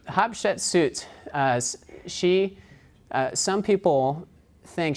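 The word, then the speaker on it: Hatshepsut: so in Egypt ass how do you pronounce his name and they said well just say hot chicken soup and so that's an easy way to remember that so hob shut suits as she some people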